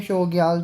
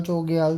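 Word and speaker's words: Chogyal: शोग्याल चोग्याल जो भी मतलब ये सबकी अपनी अपनी प्रोनाउंसिएशन है उसके हिसाब से।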